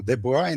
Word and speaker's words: de Broglie: convite eh para falar do de boy né que é a pronúncia um pouquinho diferente né eh e aí